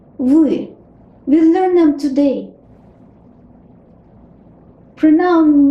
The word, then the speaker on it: вы: It looks like English B, but the sound is V.